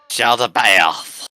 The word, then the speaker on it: Jaldabaoth: Jaldabaoth. There's no Y there. Well, there's no Y there. Oh, it's Aoth, not Aoth. You said Bayoth.